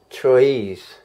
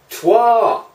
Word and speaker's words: Troyes: the worker placement game Troyes. It's not pronounced that way. No? Let's try again. Hi, welcome to another episode, and this time we're going to take a look at this. It's French. Trois.